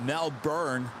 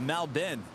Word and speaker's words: Melbourne: say it now i used to call it mel byrne i used to call it mel born born well someone actually lives there our friend